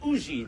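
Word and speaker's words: Huger: We had landed at the plantation of a Monsieur Auger, a Benjamin Sugar, or they pronounce it Ougie there in South Carolina, an ardent patriot, but he had mistaken me and my companions for Englishmen.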